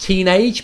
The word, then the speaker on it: Tiinadg: of an English word, which I think is pronounced teenage, but it's spelled Tiinadg.